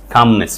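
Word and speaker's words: calmness: Meditation releases anxiety and brings a state of কামনেস শব্দটা কিন্তু noun, spelling আকারে খেয়াল রাখতে পারো, এলটার উচ্চারণ নাই।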